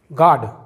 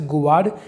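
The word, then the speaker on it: guard: Example देखते हैं, गार्ड। जी के बाद दोस्तों यू साइलेंट है यहाँ पर, इसका यू का साउंड नहीं आएगा। इसे गुवार्ड या किसी और तरह से नहीं पढ़ेंगे, इसे पढ़ेंगे हम गार्ड, जिसका मतलब होता है चौकीदार।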